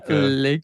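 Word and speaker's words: Lyke: I don't know how to pronounce his name, but it's L Y K E Le or Lea Lea.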